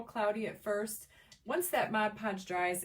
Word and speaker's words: Mod Podge: mod i think i used to call it modge podge and then i don't know i think one day i was like never really looked at the bottle and i realized i had been saying it wrong for like ever but it is mod podge too funny so you're